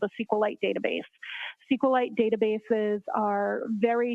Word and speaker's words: SQLite: as far as a sqlite database uh how is that spelled it is Capital SQL lower cave i t and sqlite uh is also commonly pronounced as SQL so both pronunciations are acceptable now once you received